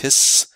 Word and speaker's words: His: Av bundle of hiss the bundle of hiss pronounced hiss helps form conduction myofibers